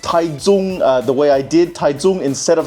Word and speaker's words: Taichung: the way I did, Taichung, instead of how the way it is spelled, which is more like Taichung, more or less know that Taiwan does not use the system known as Hanyu Pinyin, which is the most